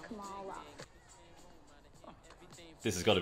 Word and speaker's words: Kamala: Morning, Camellia. Morning, actually. I've been meaning to tell you for years, my name is pronounced Kamala.